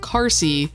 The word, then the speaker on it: Carsey: Navarro says Raz's last name really strangely. In the first game it's pronounced and spelled Carsey.